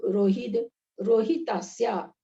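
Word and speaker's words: रोहिद्रोहितास्या: गंगा सिंधु रोहित, ध्यान दीजिएगा उच्चारण पर। गंगा सिंधु रोहित रोहितास्या, गंगा सिंधु रोहित है ना, द बोलना है इधर। रोहित इसमें र पूरा है, द व्यंजन वर्ण है।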